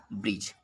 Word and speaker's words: bridge: इसको जब हम एग्जाम पढ़ेंगे तो ब्रिज नहीं कहेंगे, इसको ब्रिज बोलेंगे। इसको बोलेंगे ब्रिज। यहाँ जो डी है उसका उच्चारण हम लोग नहीं किए।